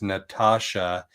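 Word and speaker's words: Natasja: So, her full name is Natasha. N A T A S J A. So, she uses the T A S from Tasha, but it's pronounced TSH. But she also said people call her Tass all the time and she doesn't get offended.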